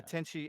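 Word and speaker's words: Tenchi: you say it again she spelled t-e-n-c-h-i yeah tenchy m-u-yo m-u-y-o-yo yeah okay yeah you had you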